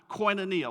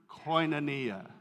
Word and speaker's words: Koinonia: you have probably heard this word before it's pronounced Koinonia let's all say that together ready one two three Koinonia right let's do it one more time one